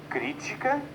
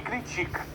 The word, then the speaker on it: crítica: Eu tenho a palavra referência, referencia, e ainda crítica e critica.